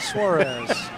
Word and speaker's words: Suarez: Suarez.